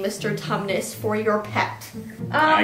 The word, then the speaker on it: Tumnus: dog mr tumnus so nobody knows how to say his name probably every time someone asks us we're like it's mr tubman so like mr thomas close enough thomas is not thomas but everyone calls him mr thomas so who made the